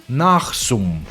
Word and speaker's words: Nasum: It's pronounced nothing like it look, Nachsum.